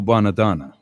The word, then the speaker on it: Bonadonna: Sent a tape to a guy named Joe Bonadonna. Say that real fast, then you'll pronounce it right.